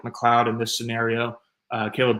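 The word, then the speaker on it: McLeod: It looks like his name is pronounced like M Leoid or something like that, but it is pronounced Mloud.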